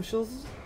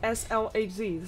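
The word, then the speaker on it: SLHZ: yesterday and before that I actually called him sh he actually said like each letter is a word like s l HZ so it's a very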